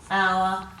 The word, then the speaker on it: hour: We don't have a lot of silent H's in our words, but these are 3 words with silent H in them. We've got ghost, hour, and honest.